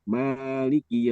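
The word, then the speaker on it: مالك: Kalau kita kan membaca alfatihah itu kan membacanya kan maiki yaumiddin. Maliki yaumiddin. Mananya kan dua harakat kan gitu ya.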